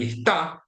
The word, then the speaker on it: está: In Spanish, stress is very important, so you can find words in which when you change the stress syllable, you change the meaning. You have esta and está, those have different meanings. You have three-way contrasts, for example, in situations like término, termino, and terminó.